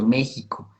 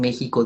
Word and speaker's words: México: Jalapa porque tiene eh su lógica es igual, por ejemplo, México también que va con X, sucede lo mismo, tendría que escribirse con J, pero es una una